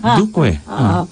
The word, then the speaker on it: Duque: I like how you pronounce that. Ulitin mo ngayon. Duque? No. Duque? You added a Y. Duque.